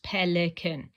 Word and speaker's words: Pelican: this sort of thing that has uh three syllables pelen so it's like it's flashing pelen so that's